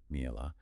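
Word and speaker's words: מעילה: It's a concept in Jewish law, pronounced mi'elah, about what happens when something becomes sacred and what happens if, oops, you accidentally misuse it.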